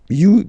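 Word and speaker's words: yeux: is you you okay don't pronounce the final X as usual you you there's you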